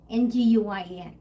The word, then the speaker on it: Nguyen: Nguyen. Yeah. Yeah. Well, that's how you pronounce that.